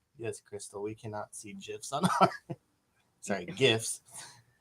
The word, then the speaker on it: GIF: Crystal we cannot see GIFs sorry gifts that's how I pronounce it I always say GIF like the peanut butter but it's gifts I always say gif